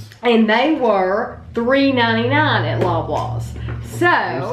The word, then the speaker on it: Loblaws: And they bought those at Loblaw's for $6.99.